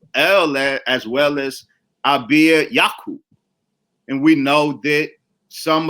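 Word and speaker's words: יעקב: intellectual projects there was absolutely the acknowledgment of yaku now of course it's written in English as Jacob but none of them spoke English in modern Hebrew it is Yakov but they didn't speak modern Israeli Hebrew as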